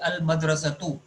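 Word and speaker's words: الْمَدْرَسَةُ: in front of it, so that word is in its original condition. Nothing has changed, so it will have dhamma at its end. So pronunciation will be al madrasatu.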